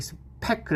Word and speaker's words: 스페클: 그래서 이제 이 경우에 있어서 마크웨이가 집중했던 건 스페클, 이게 스페클 해가지고 파열은 팍 터지는 발음이죠. 스피클하면 이거 뭔가 새는 발음이죠. 그래서 하나는 터지는 발음, 하나는 새는 발음.